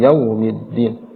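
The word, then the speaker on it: يوم الدين: ayat yang keempat adalah yau terlalu dibaca yau yau wunya terlalu dimonyongkan sedangkan yau di sana sedang saja pertengahan saja kita membacanya jadiiki yaumiddin tidak sampai berlebihan Maliki yaumiddiniki yaumiddin jadiiki yaumiddin tidak terlalu yaumiddin kemudian kesalahan berikutnya adalah addin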